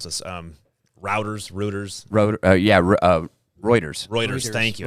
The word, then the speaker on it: Reuters: It was I never know how to pronounce this. Reuters. Reuters.